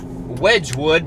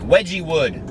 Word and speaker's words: Wedgwood: Well, I know you pronounce it Wedgwood, but it's W-E-D-G Wood. I swore I saw an E in it earlier. It looked like Wedgie Wood.